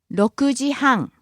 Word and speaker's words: 6時半: 8時半 Next, 6時半 6:30. 6時半6時半 Again, starts low, rises on the second syllable, the ku, stays high until the final syllable where it drops again.